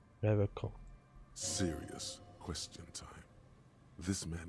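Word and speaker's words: Revachol: He pronounces Revacol with a hard K. Unlike other people. Revacol.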